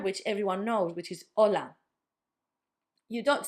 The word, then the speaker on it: hola: It's the letter H, which in Spanish doesn't have a sound. We call it H on the alphabet, but then it's got no sound.